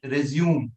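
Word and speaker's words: résumé: So if you see the spelling here, it has got the E of the French style. Yeah, like we have the E in cafe or cliche. So that's how we are not going to pronounce it resume. No, this is not resume. It should always be resume.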